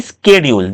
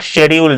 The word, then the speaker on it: schedule: to his bus busy schedule. This is not schedule students. This should be called schedule.